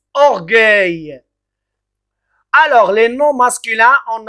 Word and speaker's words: orgueil: ne pas prononcer et g voilà donc en prononce orgueil alors les noms masculins on a gouverné regarde